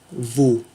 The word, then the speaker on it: wo: Alors, où, donc en français, le O avec un U, avec un accent grave dessus, se dit wo. À ne pas confondre avec l'anglais who, qui veut dire qui.